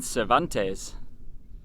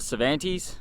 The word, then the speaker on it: Cervantes: is a Lobster Shack in Cervantes or Cervantes I think the locals say Cervantes it kind of sounds like cerveza but yeah there's a